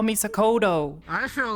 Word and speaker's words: Sakoto: Is I always pronounce Oh my T, god. not D. My name Listen, is Sakoto. that's only the damn not northerners, Sakoto.